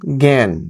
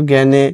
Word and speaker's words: জ্ঞান: কোন নিজস্ব ধ্বনি নেই আ কখনো এ এর মত উচ্চারিত হয় যেমন জ্ঞান এখানে কিন্তু জ্ঞানে আকার উচ্চারণ হচ্ছে না